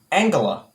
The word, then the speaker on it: Angela: the hard i'm sorry the g is hard her so the letter in her name is actually pronounced like the g in angel so she is actually angela merkel i actually knew